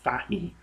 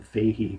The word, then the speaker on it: Fahey: By the way, Fahey, it's an Irish surname, and we tend to pronounce it Fahey over here. So I was kind of weird when I hear him referred to as John Fahey, but for convenience sake, that's how his name is pronounced.